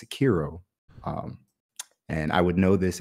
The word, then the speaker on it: Sekiro: I'm not pulled my weeb card, and he said that I'm not pronouncing it correctly. So it's Sekiro.